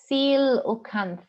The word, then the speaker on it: coelacanth: So it's a primitive looking, pronounced coelacanth, so I was way off, so you can't have a good laugh at that.